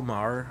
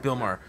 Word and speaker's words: Maher: It says Bill Maher. I don't know how do you say that guy's name? Last Bill name? Maher. Yeah, Bill That's Maher. right. Bill Maher.